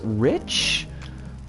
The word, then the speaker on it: eldritch: Is the CH in eldritch pronounced like rich? Or is it pronounced like a CH that's a K sound? Like Chris Redfield. I think it's like rich. Okay.